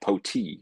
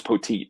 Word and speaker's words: Petit: And he goes, "No, the T is there because the PA guy was saying like Poti, and it's like I thought it was Poteet."